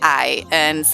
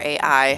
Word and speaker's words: AI: Track 4 is Good Time featuring I, or AI, however you want to say it. I'm pretty sure it's just pronounced I.